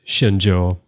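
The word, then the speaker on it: Shenzhou: is not J but J but it is shinjo as I was uh saying it probably was now how they pronounce it on the show I don't know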